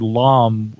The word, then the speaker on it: Lam: about this for years because the prefix Lam is the same as the Tibetan word Lama, one who is on the path. And so the word Lam, and that's why I pronounce it that way, Lam, the way or to goeth.